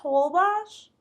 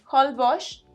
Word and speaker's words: Holbox: Pues sí, tienes razón, pero Holbox es un nombre maya, no español.